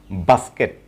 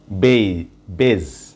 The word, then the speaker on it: base: এই ওয়ার্ডটি আমরা সাধারণত প্রনাউন্সিয়েশন করে থাকি বেজ, বেজ, BASE, বেজ। আসলে এটির প্রনাউন্সিয়েশন বেজ হবে না, এটির প্রনাউন্সিয়েশন হল বেস, বেস, বেস, বেস।